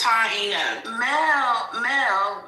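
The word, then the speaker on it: Taíno: It's Taino.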